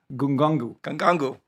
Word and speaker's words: Ngannou: for the show, and you're not even pronouncing these guys' names correctly. Okay, it's Francis Ngannou.